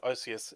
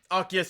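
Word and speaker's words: Arceus: I just like Arus as a sound. It sounds way better than Archus. It is. But Archus is how you pronounce that proper is the issue.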